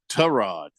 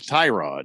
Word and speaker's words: Tyrod: Yeah, Tyrod instead of Tyrod.